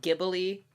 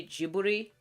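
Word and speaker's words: Ghibli: Um, I really like Gibbery movies or some people pronounce it Gibbly films. I know that's how we pronounce it in America, but I did look it up. In Japan, they say Jiuri, so that's just how I've been saying it.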